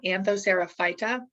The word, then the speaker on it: Anthocerophyta: so you guys know how to pronounce this word so the phylum for hornworts is phyta anthocerophyta um one way i try